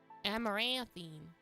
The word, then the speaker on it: Amaranthine: Pronunciation. Say it. Amaranthine Moon.